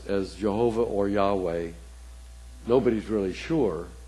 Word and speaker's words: Yahweh: let us know but Yahweh is the popular pronunciation the second word Jasha